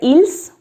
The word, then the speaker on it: ils: looks like ill now i'm not saying il looks like ills okay because the last letter is not pronounced both of them are pronounced the same way so ill in plural